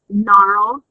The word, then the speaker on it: gnarled: in NASH gnashed gnashing gnarled and gnarled remember GN is pronounced the words on the